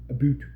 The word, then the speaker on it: about: else in the world, you need to enunciate the Canadian version of it. A boot. And boots, right?